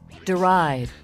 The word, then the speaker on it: deride: Deride.